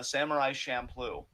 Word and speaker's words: Samurai Champloo: I'm probably mispronouncing this, and I am so sorry to all anime fans. Samurai Champloo.